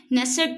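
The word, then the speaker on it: Knesset: वैसे यहां पर के जो है वो साइलेंट है। नेसेसट जो है इसका पार्लियामेंट है नेस्ट या नेसेसट।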